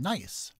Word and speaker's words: gneiss: Then the rock turns into the rock called gneiss. Gneiss is spelled with the silent letter G.